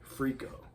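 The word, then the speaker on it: Frikko: Freako, F-R-I-K-O. That's how you spell it.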